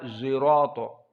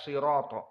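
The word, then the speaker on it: صراط: Maka dibaca zirato. Tidak sirato.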